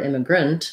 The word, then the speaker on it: immigrant: to our last topic if i look at then immigration my a in immigration m the gray syllable is stressed and then i have the clear vowel a versus in this word immigrant that a gets reduced down to the it or the schwa um so syllable stress